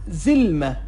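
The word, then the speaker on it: زلمه: ظلمه. ببینید دوستان، ظلمه، ظلمه یعنی مرد. ظلمه در زبان عربی عراقی به معنی مرد هست دوستان. ظلمه، مرد. ببینید ز مثل دقیقا ز فارسی تلفظ شد، ظلمه، ظلمه.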